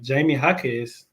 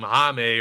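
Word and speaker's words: Jaime Jaquez: name for real um from what I heard the commentator they said like uh Jamie hakz Jamie hakz okay because I was sitting here calling him hame or some [ __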